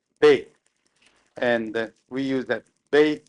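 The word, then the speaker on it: 米: We use the character for rice, which is pronounced Bei, and we use that Bei Koku for rice country.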